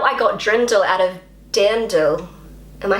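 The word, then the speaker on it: Dirndl: that right d so as a native English speaker I am looking at how it's written and and I just automatically pronounce it as drindel it's so wrong d d dandel Dand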